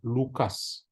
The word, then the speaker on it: Lukas: Dalam bahasa Indonesia pakai K, bahasa-bahasa lain pakai C. Bacanya tetap sama, Lukas.